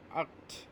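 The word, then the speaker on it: acht: এইটকে বলে হচ্ছে আক্ট, আক্ট, এটা আক্ট, উচ্চারণ হচ্ছে আক্ট।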